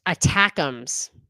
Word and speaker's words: ATACMS: will be up shortly the atacms are pronounced attacks nice attacks frightening me